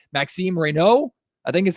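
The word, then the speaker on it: Maxime Raynaud: his very French name, Maxim Reno, I think is how you say it. I've been adding the D to it. The D is silent.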